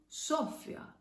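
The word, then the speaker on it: Σοφία: If it had an accent on O, we would pronounce it Sophia, but it doesn't.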